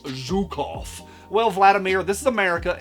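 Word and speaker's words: Zhukov: Now, at this point, Millsur guy is going to say, "Actually, it's pronounced Zukov."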